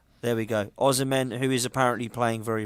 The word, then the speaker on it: Osimhen: Osimhen. There we go. Osimhen, who is apparently playing very, very well at the moment and is a player that's on form.